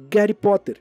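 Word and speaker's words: Гарри Поттер: Harry Potter na Rússia, porque na Rússia eles não pronunciam o H praticamente não existe. A letra que substitui o H é o G, que tem esse formatinho aqui. Por isso, Harry Potter é o Gary Potter.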